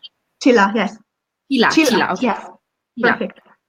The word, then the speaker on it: Csilla: Am I pronouncing it? Csilla, yes.